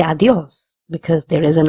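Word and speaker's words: adiós: We will stress on this word because there is an accent on the O. Where there is an accent, we have to stress. So adios. Instead of saying adios, we say adios because there is an accent.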